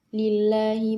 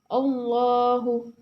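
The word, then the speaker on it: الله: Tarqiq bisa dibedakan yaitu ketika lam jalalah didahului kasroh. Cara membacanya yaitu tipis. Bismillah, lillah, fillah. Berbeda dengan ketika tafhim, yaitu tebal. Ketika didahului fathah atau dhammah. Contohnya seperti Allahu, wallahi, innama waliyukumullah, mullah. Dibaca tebal.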